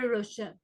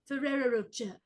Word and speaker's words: Ferrero Rocher: is what she said I'm gonna say it with her Ferrer roacha ferera and then the British say roach everyone is saying roach roach oh and then the Americans just fully remix this as we always do yes